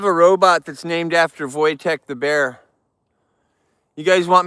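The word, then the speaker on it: Wojtek: That's how they say it in Poland. Voytech. We would want to say whoosh tech, but they say Voytech.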